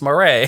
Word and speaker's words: Murray: I was saying his last name wrong this whole time, and he's like, it's not Merritt, it's Murray.